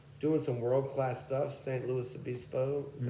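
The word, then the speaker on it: San Luis Obispo: St. Louis Obispo, that's how you say it, and all these little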